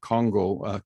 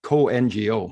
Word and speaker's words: CoNGO: And our past chair, Soren, attended Congo, co-NGO. I call it Congo because that's the way it's spelled, but it's the co-NGO.